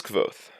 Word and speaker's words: Kvothe: his smile broadened mine my name is kvoth pronounced nearly the same as quoth the names are important